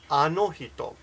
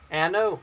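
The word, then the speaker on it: あの人: Anohito. Now, I listened to her pronunciation, and I noticed that she has more of an American tone with the vowels. She says ano, like a little bit anohito.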